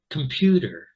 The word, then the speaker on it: computer: So as we see, there's the stress, pew, two schwas, because this is the stressed syllable, okay? So computer, there we are.